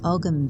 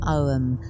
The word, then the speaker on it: Ogham: It's the Celtic Reiki course, which works with the Ogham symbols, or Ogham, depending how you want to pronounce it. Ogham or Ogham, there isn't a right way.